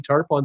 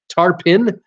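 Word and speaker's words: Tarpon: English language is crazy tarp on Springs is pronounced tarp in I will I will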